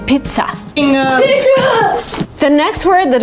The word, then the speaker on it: pizza: And here, you're kind of pronouncing it like pizza, with a stop, with kind of t, with air coming out of your mouth, pizza. Because some people say pizza, which is not right. You kind of have to stop in the middle of the word and say pizza.